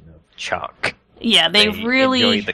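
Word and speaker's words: Chak: new bug species called Chuck Chuck the NBCS have a interesting pronunciation of Chuck yeah they really enjoy the K they really love emphasizing the K and also sometimes it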